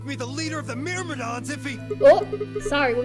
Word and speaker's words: Myrmidon: What are these Myrmidons? Thank you for pronouncing it like Myrmidon.